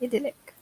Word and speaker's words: idyllic: How would you pronounce it, Kate? Okay. Idyllic. Idyllic. Yeah, but I think we can say idyllic as well. Yeah, so both are correct.